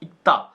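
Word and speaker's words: 읽다: ठीक है, अगर तुम इक्ता लिखते हो तो और प्रोनाउंस इक्ता होगा ये। फिर मैं दोबारा से समझाना चाहता हूं, ये ल की साउंड नहीं क की साउंड ले रहा है, तो इसको इक्ता, या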